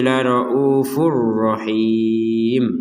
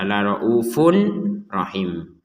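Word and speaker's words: لَرَءُوفٌ رَّحِيمٌ: Di sini ada tanwin bertemu ra, maka kita memasukkan kepada huruf ra ini untuk tanwinnya ini, sehingga terbacanya itu la raufur rahim. Jadi tidak dibaca la raufun rahim. Kalau raufun rahim itu kan jelas. Nah, sekarang dari yang jelas kita masukkan, sehingga bukan jelas lagi cara bacanya, tapi dimasukkan dan tanpa dengungan.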